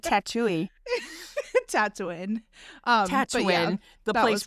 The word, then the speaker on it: Tatooine: Tatooine. I was like, right? they're a Tatooine. That's how you pronounce it. Excuse me. I'm like, Tatooine.